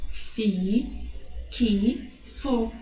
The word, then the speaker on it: fixo: Fi, que, so. Esse X ali, quando eu pronuncio como KS, ó. Fi, que, so.